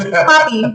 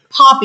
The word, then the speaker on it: Papee: It's not Papi, but it's Poppy. You gotta say It's not. There's no O. It's P-A pop. And I have to say it with O to say it correctly. P. So not, not Pappy. Not It's not Pappy. Pappy. Not Papaya. I had some crazy pronunciations of my name, and I just be looking like, how, bro? It's like it's hard, but it's easy. Just break it in half.